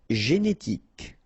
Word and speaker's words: génétique: Génétique, remember, k, génétique.